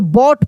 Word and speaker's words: bought: जैसे देखते होंगे लिखा रहता है BOUGHT, तो बॉट पढ़ते हैं, GH को नहीं पढ़ते हैं।